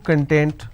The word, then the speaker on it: content: have the word content I break it into two syllables when I pronounce this as con tent it means ingredient or index when I pronounce this as Kun that means happiness or being happiness or being self-satisfied so these are the